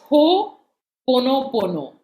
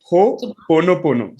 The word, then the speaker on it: Ho'oponopono: Is that the right pronunciation? Yeah, it's Ho'oponopono. Okay. Ho'oponopono.